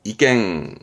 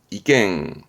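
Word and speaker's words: 意見: 요게 의미죠 이미 이미의 이견 이죠 참 아시겠지만 이갱 이갱 그러면 그거에 동의하는 거죠 도이 도이 의도 의도한다 발음은 이토 이토 의향 방향의 향자 그 사람의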